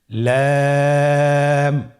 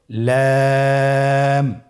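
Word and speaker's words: لام: লাম হরফটি উচ্চারণের ক্ষেত্রে অবশ্যই বারিক হবে এবং তিন আলিফ টেনে পড়তে হবে। আপনারা আমার সাথে বলুন। লাম।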